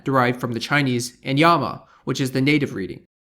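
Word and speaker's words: やま: In Japanese, the most common pronunciations are san, derived from the Chinese, and yama, which is the native reading.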